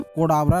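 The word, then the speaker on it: Cadabra: साथ ही कई लोगों के द्वारा इस नाम को केडावर प्रोनाउंस किया जा रहा था, और केडावर का हिंदी मीनिंग मृत शव होता है।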